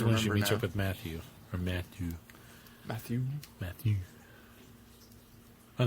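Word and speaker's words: Mathie: at yeah cuz he's his name is spelled m a t h i e which I think is the French spelling of Matthew it's Matthew true Matthew really this section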